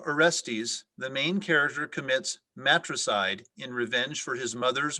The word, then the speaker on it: matricide: ananya your word is matricide matricide may please have all the information matricide